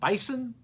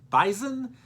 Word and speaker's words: Bison: FCS ranked number 1, the North Dakota State Bison, not Bison. The locals there in Fargo pronounce it Bison.